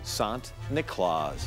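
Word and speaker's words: Sint Nicolaas: nicholas to western europe the dutch who settled new york pronounced saint nicholas sant nicolas hey everyone hope you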